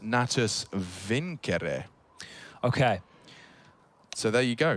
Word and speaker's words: Natus Vincere: navi's full name and want to say it correctly as in the Latin it's actually pronounced natus vincere okay so there you